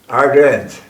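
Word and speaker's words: Ardennes: tanks through the rugged Ardon how do you pronounce it ardan is ardens say that again ardens forse ardens ardens uh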